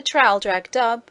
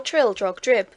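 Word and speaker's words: Traldragdubh: It contained a warrant for conducting me and my retinue to Traldrag Dub, or Trildrog Drib, for it is pronounced both ways as near as I can remember, by a party of 10 horse.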